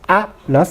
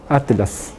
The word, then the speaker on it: atlas: a ver Atlas atas no se dice atas sino Atlas Atlas es un en